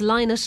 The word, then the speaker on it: Lynott: ireland's original rock stars philomena who pronounced her surname as linus left her native dublin